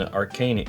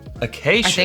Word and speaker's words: Acacia: say floral rose petal and arcan ar oh Acacia Acacia that's how you say it rose petal and AAA